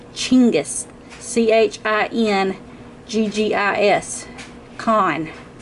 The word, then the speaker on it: Chinggis: you look up Chinggis, we Americans call it Genghis Khan. We are pronouncing it and spelling it completely wrong. And Chinggis, man. The Mongolians get very upset about that because it is Chinggis, C-H-I-N-G-I-S, G-G-I-S.